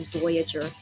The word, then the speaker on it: Voyager: B-O-Y-A-G-E. Yeah, they didn't learn the correct pronunciation until way later, I think. But yeah, when Kihyun talked about Midnight Idol, he was like Voyager. That's the correct way.